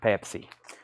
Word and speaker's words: Pepsi: Pepsi and everybody said yes Chad it's actually pronounced Pepsi let me grab two new Japanese pressings and